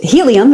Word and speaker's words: Healium: what we're doing so helium it's spelled h-e-a-l-i-u-m like healing and uh my background